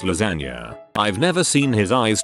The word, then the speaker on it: lasagna: I would intentionally mispronounce lasagna all the time in front of my brother, pronouncing it lasagne. He'd correct me every time, then eventually gave up. Then one day he says, "Want lasagne for lunch?" To which I reply, "It's pronounced lasagna."